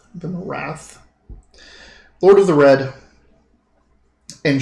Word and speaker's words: Vimyrarth: It introduces itself as Vimarath, Lord of the Red. Vimyrarth. Vimarath. Lord of the Red. And she has chosen this peak as her home. Spell that shit again. Vimyrarth.